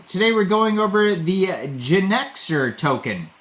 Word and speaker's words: Genixor: Today we're going over the Genixor token. Kind of is spelled out like Genixor, like you're a Gen Xer.